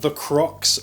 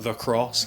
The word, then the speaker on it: The Cross: I picked up this t-shirt from The Crocs, which I think is supposed to be pronounced The Cross, because get it? Cross.